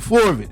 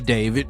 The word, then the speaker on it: D4VD: A fellow by the name of the Forvit, is what I call him. D 4 V D, David, is how you pronounce it.